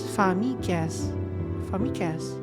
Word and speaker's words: famix: Pronounced as famicas.